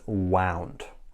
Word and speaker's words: wound: It's pronounced wind. And the past simple and past participle is wound.